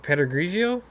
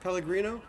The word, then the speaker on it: Pellegrino: Yeah, Or- Pedregrigio? Is that am I Oh. saying it right? Pellegrino. Yeah, Pellegrino.